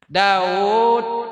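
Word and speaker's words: داود: Daud dibaca Daud, wawunya kada Daud tulisannya, tapi bacanya Daud.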